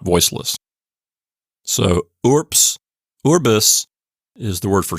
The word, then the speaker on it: urbs: it as voiceless so ORS is how you would say this word as if it were spelled urps why is that I